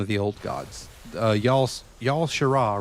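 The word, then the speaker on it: Y'Shaarj: I I was saying his name wrong. So, it's Yeshu.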